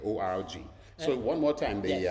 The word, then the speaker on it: org: know you see so it's important to make sure they hear that g in there org so one more time